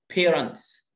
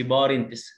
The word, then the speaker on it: parents: خد بالك الـ A هنا لونج A، parents، لأننا عندنا A ساكن E زي ما أنت شايف، A consonant E هتخليني أنطق الـ A باسمها، بقول A ما أقولش parents زي ما بنسمع من كتير جدا، لا parents، parents.